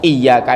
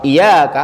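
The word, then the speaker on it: إِيَّاكَ: lagi hati-hati sering Diulangi huruf ya ini harus ditasdid harus ditahan kalau tidak ditahan artinya apa bukan kepadamu iyaka itu artinya kepadamu ya Allah tapi kalau iyaka enggak ditasir artinya kepada sinar mataharimu nah artinya jauh artinya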